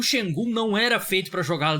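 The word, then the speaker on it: Şengün: E eu cheguei à conclusão que é Sengun mesmo a pronúncia, porque eu falava Sengun, mas eu vi foneticamente.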